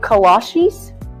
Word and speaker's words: kolache: What's a colache? Oh, cola cheese? Colache? Kolaches? Kolache? Like the shoes? No, that can't be right. It's kolache, but it don't matter